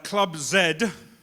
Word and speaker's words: Club Z: next few days uh Club Zed thank you thank you for that again for the confirmation of the correct pronunciation of your organization club club Zed is I I I